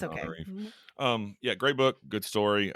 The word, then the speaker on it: Tananarive: I got the Tanana part, and I was like, I just said Rive. My bad. it's okay. Tananarive.